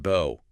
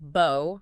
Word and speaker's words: bow: It could be pronounced bo rhyming with go. That's the verb meaning to bend at the waist like showing respect. And it can be pronounced bow rhyming with now or cow.